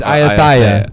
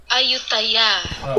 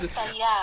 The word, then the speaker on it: Ayutthaya: This is how you pronounce it. Oh, hold on for it. Oh wait, we've been doing this bit for a while. Ayutthaya. Woo, child. Ayutthaya.